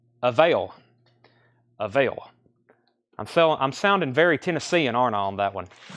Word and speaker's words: Avail: Like available, but just the first syllable, right? Avail.